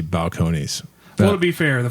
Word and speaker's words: Balcones: And so I just very confidently said that this was Balcones, and I apologize to Texas and the whole brand, because it's very obviously Balcones.